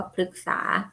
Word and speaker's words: พฤกษา: พฤกษา อ่า มา ทับ พฤกษา อ่าน ว่า พฤกษา ติด ตาม หลัง มอ